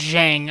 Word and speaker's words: Zhang: Joanna is insane, so is Zhang. I mean, absolutely banana sandwich. Wow, look at you pronouncing the last name correctly.